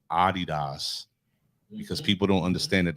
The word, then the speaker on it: Adidas: I'm gonna say Adidas because people don't understand that that's really the right pronunciation. Adidas.